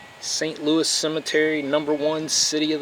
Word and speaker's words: St. Louis: Louis or San Louie oh really pronounce it I just know when I watch hockey it's not the San Louie Blues st. Louis Blues that is just a